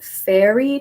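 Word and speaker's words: Feri: in this one is called the fairy tradition here it's spelled f-e-r-i but it has also been called fairy as we as in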